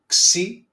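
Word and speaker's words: ξι: Then we have the letter C. Okay. Uh like okay. Uh you can see in the pronunciation okay um it's like sound in English Ks.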